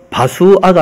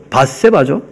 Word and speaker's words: 바세바: 이 네 사람은 다 암미엘의 딸 바수아가 아니고 바세바죠. 둘 다 맞는 말인데 그 발음이 그렇게 좀 달라졌다는 거예요.